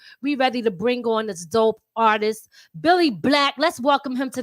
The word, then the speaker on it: Bill Li: from owensburg south carolina spelled billy black but pronounced billy it was just like